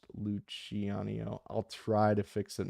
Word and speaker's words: Luciano: Not loose eanio pronounced luchanio.